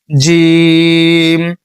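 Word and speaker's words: جيم: এখানে জি এটা উচ্চারণ করবেন হচ্ছে জিবা যে মধ্যখান রয়েছে এটা তার বরাবর উপরে তালুর সঙ্গে লাগাইয়া যেমন আমরা বর্গীয় জ উচ্চারণ করি না বর্গীয় জ সেখান থেকে জিম।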